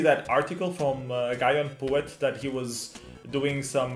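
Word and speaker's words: Pouet: But at least I can pronounce it correctly. Yes, Puet. Yeah, Puet.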